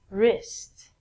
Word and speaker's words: wrist: So the W again is silent.